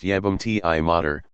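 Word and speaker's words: jebem ti mater: Jebum ti mater, pronounced jebum ti mater, meaning I'll fuck your mother, is one of the most popular vulgar insults.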